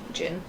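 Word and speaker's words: Djin: D-J-I-N. Yeah. Jin. Gin. Yeah. I hate the letters that don't actually get pronounced.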